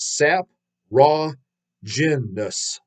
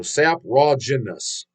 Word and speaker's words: Saprogenesis: band saprogenesis pronounced oh so he pronounced sap Raw jinnus so sap raw Janus zap Roger this okay it's kind of a tongue twister laugh out loud we've been around since 2019.